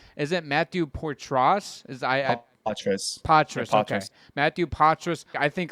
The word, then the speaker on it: Poitras: And then you have, how do you pronounce, is it Matthew Poitras? Poitras, okay.